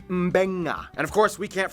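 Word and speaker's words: Beqa: And just remember, in the Fijian alphabet, C makes the th sound, D makes the nd sound, B makes the mb sound. Both Q and G make the ng sound. Therefore, the town of Nadi is actually pronounced Nandi. And this word is pronounced Mbenga.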